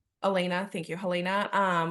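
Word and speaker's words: Helaena: Lanier, how do you say her name? Elena, thank you, Helena.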